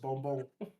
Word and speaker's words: bonbon: Except we don't say that, we don't pronounce the S at the end. It's just bonbon.